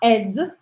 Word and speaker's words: aide: E é bastante curioso, porque eu vou falar ed, olha só. J'aide, tu aides. J'aide, tu aides. Il aide, elle aide, on aide. Até aqui, a pronúncia do verbo é a mesma. Ed, ed, ed, ed.